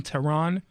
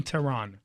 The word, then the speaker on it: Tehran: literally at I am Tehran I am teh RA in like the capital of Iran my name is the